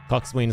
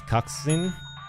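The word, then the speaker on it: coxswain: to annoy people Cox swen pronounce coxen that does not sound right to me but sure I I'll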